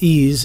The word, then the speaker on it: EES: EES, which is pronounced EASE, is an acronym for Engineering Equation Solver.